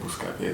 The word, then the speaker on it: Booska-P: Yeah, Bouscapé, d'accord. Spell it. B-O-O-S-K-A, and then they say, instead of P, they say pay.